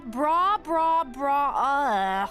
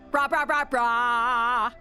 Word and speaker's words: Bra: Who names their store Bra? I'm too bored to even finish it. Actually, it's pronounced brah.